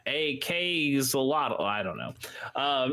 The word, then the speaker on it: axolotl: Also on the 14th, I think you would just pronounce it the way the animal is, but axolotl, except it's AK, like Elon Musk's child name. Well, like the machine, like the assault rifle. Yes. Because he's an AK-zolotl.